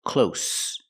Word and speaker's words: close: But this word is close, with no voice. It's close. It's near. This word close has the S sound. No vibration.